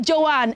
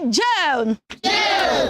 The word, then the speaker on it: John: teacher is calling you it is not Joanne everybody can we say John John one more time down